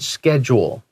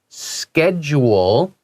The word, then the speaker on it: schedule: And you will sometimes you'll hear Americans say schedule. So SCH, they say sk. And you will also hear some people, usually more European, say schedule. 哦，他把这个 SCH 变成 sh， But they still say school.